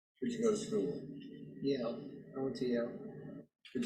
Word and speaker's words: Yale: Yale.